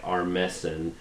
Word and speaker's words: Armisen: No, it's spelled with an E instead of an I. Armisen. Okay. It's pronounced exactly the same.